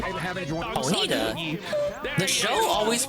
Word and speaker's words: Ponyta: The show always pronounced it as Ponyta. And some divorce, in groups and stuff. I mean, I've always understood it's supposed to be a pun on Bonita, but the show always said Ponyta.